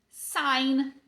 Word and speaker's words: sign: O que esse G tá fazendo aqui nessa palavra? Vários nadas. Falo com vocês? No português, as letras existem para serem pronunciadas. No inglês, not so much. Eles não levam isso muito a sério, não. Então, você vai ignorar completamente esse G.